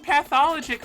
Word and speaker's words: Pathologic: 'Cause I think I always say it wrong, but I forget It's how I say it. pathologic. Okay, I always say it wrong. Like you would say pathological liar or something like that.